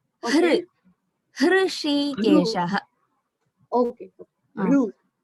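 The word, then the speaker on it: हृषीकेश: I am hearing it like Rishi Keshaha, that Rishihi. We say Rishi. I said Rishihi. Rishikesha. That Ri is not it is not the correct pronunciation. Hr. Hrishikeshaha.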